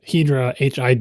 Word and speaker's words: Hidra: this relates to the hedra hi chip uh because some people think that it should be pronounced Hydra and then people like